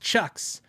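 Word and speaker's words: CIOKS: using I like Chucks it's c i o k s c maybe there's but it's it's pronounced Chucks weirdest spelling c i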